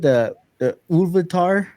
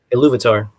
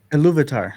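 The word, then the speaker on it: Ilúvatar: the creation of Middle Earth, is how you pronounce it? The Ulvatar? Iluvatar. Iluvatar. Sorry. Iluvatar.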